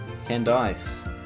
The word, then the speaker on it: Candice: Candice, actually, that's how you say it. Candice. It's canned ice.